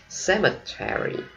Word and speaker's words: cemetery: Cemetery. Mỹ đọc là Terry, không? Cemetery. Còn người Anh họ đọc có ba âm thôi, cemetery. Cemetery.